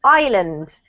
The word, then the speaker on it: island: confusing I know because it has an S but we actually don't pronounce the S silent so it's pronounced island I learnt yeah and